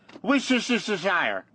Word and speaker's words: Worcestershire: It's just Worcestershire.